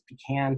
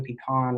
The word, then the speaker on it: pecan: a different way she also listed pecan because it's pecan pecan right there are different variations so this is